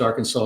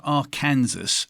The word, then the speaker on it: Arkansas: Well, it's actually an Indian name. It means downstream people, and the Indians say Arkansas. It's not spelled that way, but if you spell it phonetically the way they spoke it, it's Arkansas. Gee, thank you.